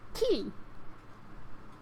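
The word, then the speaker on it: き: You pronounce it as ki.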